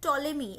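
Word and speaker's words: Ptolemy: আপনারা লিখে রাখবেন এন্ড টলেমি এটা কিন্তু পি টা উচ্চারণ হবে না এখানে একজন রাইটার ছিলেন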